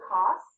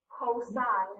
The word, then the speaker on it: cosine: with it to cos some people say cos again cosine is how you say it so same amount